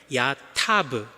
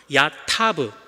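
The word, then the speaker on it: יָטַב: 언어이기도 해요 탑 야탑이라고 제가 발음했지만 이렇게 한번 발음해 볼게요 야타브 야타브 즉 타부라는 우리가 몇 번 들어보셨겠지만 토브라고 하는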